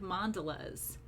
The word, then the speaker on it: mandala: I am teaching how to make mandalas, or some people pronounce it mandala, but what they are is they are radial designs.